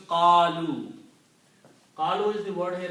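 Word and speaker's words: قالوا: So if I put the waw and alif at the end, alif is not pronounced. This becomes qalu.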